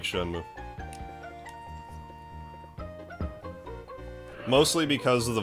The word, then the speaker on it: Shenmue: oh is it Notch didn't they pronounce it shenmue in shenmue 3 though because I used to call it Shen way until I heard in the game oh my God